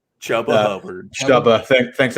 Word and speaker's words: Chuba: Chuba. Thanks, it rhymes with Hubba Bubba.